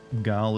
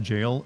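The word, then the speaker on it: Gaol: is bat Tower settlement gal is pronounced jail um but I want to I want to say gal it's funner to say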